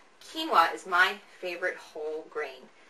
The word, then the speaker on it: quinoa: and my favorite whole grain is one called quoa is that how you say that quoa no it's actually pronounced quinoa quinoa is my favorite whole grain this is the